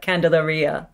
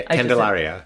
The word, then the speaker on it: Candelaria: and the Red Door and I'm going to pronounce this wrong, but Candelaria. Yeah, Candelaria. Candelaria. Yeah, that's okay. It's the Italian speaker in me. Candelaria. Yeah. It's Mexican. Candelaria. Mexican bar. Yes, that's why I'm pronouncing it wrong because it's not Italian.